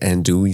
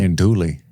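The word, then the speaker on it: andouille: creole omelette had like andul sausage and shrimp in it andly and like some cinjun spice isn't it French you don't pronounce the else it's like and and andage fromage I did have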